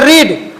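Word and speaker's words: read: लेकिन उच्चारण अलग हो जाता है। जैसे रीड वर्ब का पहला रूप है रीड।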